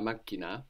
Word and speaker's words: macchina: Is la macchina, which actually la just macchina. Means machine. That's spelled M-A-C-C-H-I-N-A. You like that? So that's spelled M-A-C-C-H-I, which gives us the hard K sound, C-H-I-K-N-A, na, la macchina.